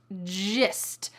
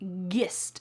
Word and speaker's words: gist: Gist. Notice that this is not pronounced gist.